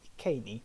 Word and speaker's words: Iceni: Our first case study concerns the Iceni, or Iceni, if you want to be very proper with your Latin pronunciation.